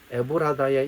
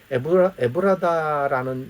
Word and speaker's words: 에브라다: 에브라다 혹은 에브랏이라는 말로 등장하는데 두 개는 같은 건데 발음에 약간의 차이가 있을 뿐입니다.